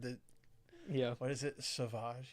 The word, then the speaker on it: Sauvage: Sauvage. You don't call it savage. You call it sauvage. You pronounce it a different way.